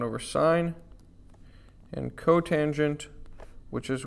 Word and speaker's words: sine: We wouldn't call this sin. We would call this sine.